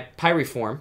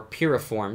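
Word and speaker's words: Piriform: that is run by pi reform or P reform depends on how you say it which is owned by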